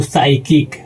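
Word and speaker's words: psychic: यानी कि दोस्तों इसको पढ़ते वक्त पी को साइलेंट करके पढ़ेंगे तो इसका हो जाएगा दोस्तों साइकिक।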